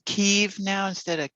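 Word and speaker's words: Kyiv: you noticed they're saying keeve now instead of kiev yeah that's the ukrainian pronunciation ah instead of the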